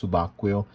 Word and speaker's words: Subacqueo: typical of diving watches is a d1 milano subaquil it's called subaquio it is pronounced subaquil in italian which mean um diver if we